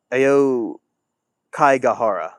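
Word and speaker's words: Aokigahara: So, it is the Ao Kai Gajara. It's spelled A O K I G A H A R A.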